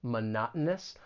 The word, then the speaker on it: monotonous: I think it is when pronouncing this word it can be a little challenging it's a longer word monotonous the stress is on that second syllable and the T it's going to be a gladle t this happens when you have the T followed by a vowel sound followed by the n Sound words like Mountain kitten